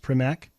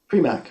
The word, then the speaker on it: Primack: Famed jazz critic Brett, I believe it's pronounced Primack. Primack, right.